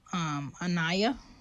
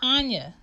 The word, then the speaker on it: Anya: He was like, Anaya? Where you get Anaya? It's Anya. So Anya is like the Russian version of Annie, but in Russian.